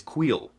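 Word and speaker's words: Kuiil: After about 10 minutes of looking it up and looking at the pronunciations, I have finally figured out that this guy's name is Queel.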